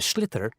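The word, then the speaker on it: sliotar: you have to get this ball called a slither that's SL IOT a or so it's not spells the way it's pronounced you his ears into the net for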